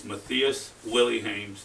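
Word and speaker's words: Mathias Willemijns: That's how you pronounce his name is Matus Willy.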